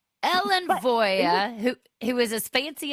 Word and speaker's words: Voie: But it's it's really Norwegian and in Norway it's spelled W I E, but it's pronounced Voya. So, it's it's very Norwegian. It's not French. Ellen Voya, who who is as fancy as she wants to be.